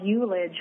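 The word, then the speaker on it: ullage: The one thing I forgot was something called eulage, which is spelled U-L-L-A-G-E, eulage, which is the amount of wine that's evaporated out of the bottle.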